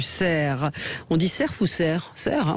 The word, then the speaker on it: Cerf: On dit Cerf ou Cerf? Cerf, hein, on ne prononce pas le F.